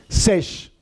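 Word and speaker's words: שש: hebreo six en hebreo Cómo se dice seis ses Lino significa ses ses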